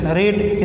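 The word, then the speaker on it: read: दीजिए, was Urdu not, फिर रीड, spelling यही होती है, रेड पढ़ा जाता है।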